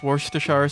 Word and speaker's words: Worcestershire: Mix Worcestershire sauce with ketchup to make the red darker.